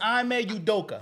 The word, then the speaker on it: Ime Udoka: His name is Ime Udoka.